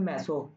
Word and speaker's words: মেসো: যৌগটিতে মেসো যৌগ আছে ম্যাসো যৌগ এটা কিন্তু ম্যাসো উচ্চারণ কিন্তু ম্যাসো এটা আবার মেশো ভাবিস না তোর মেশো ঠিক আছে যৌগটিতে মেসো